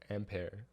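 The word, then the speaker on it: Ampère: magnetic form okay it's ampere and pair well it's a french name oh that's how you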